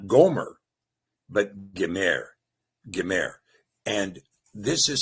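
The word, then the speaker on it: Gomer: This the spelling is uh gimmel mim rash not the o is invented by the mazerites in goomer.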